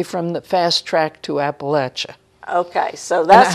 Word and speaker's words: Appalachia: area, and I say, oh no, it's not pronounced that way. It's Appalachia. That's how we say it.